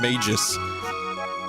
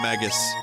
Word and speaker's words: Magus: well with it also a lot of people pronounce him Mages I've been corrected many times but I like to call him Magus I also like sod